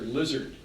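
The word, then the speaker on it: Szilard: a well-known nuclear physicist interesting name SZ I l-ard Norwegian that Norwegian a big reformed Hungarian difficult cultic pronounce this and I saw a video of him and someone asked him how do you pronounce your name you said oh my my students call me professor lizard you had a good sense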